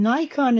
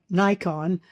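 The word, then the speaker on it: 内観: And Nikon is a Japanese word, 2 syllables, which means looking inside or self-reflection.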